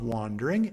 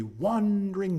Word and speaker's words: wandering: So we take a syllable out of wandering and we say wandering. It is the star to every wandering bark.